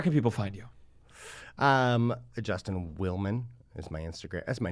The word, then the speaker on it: Willman: Justin Willman is my Instagram. That's my name, and you look it up, you'll find me. Willman, Justin Willman. People often think it's Williams.